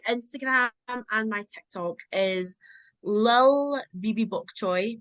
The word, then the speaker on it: lilbbybokchoy: So my Instagram and my TikTok is Lil Bibi Bok Choy, but it's spelled LILBBYBOKCHOY. It's not Libby Bok Choy.